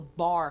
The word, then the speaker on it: barre: around we can make a position called the Barre chord if you looked at it on paper it's spelled be a are re pronounced bar and